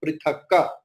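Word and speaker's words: पृथक्: But in last word also prithak is there, but I am telling prithakka. Because I taught you in last class that if the last word is halanta word, then the quarter a will be pronounced with halanta. But not in between.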